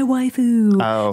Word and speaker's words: waifu: Like a lot of gamer guys are like, she's my waifu. So I thought you were saying like wife thing. Yes. So it's actually like a ridiculously pronounced way of saying wife.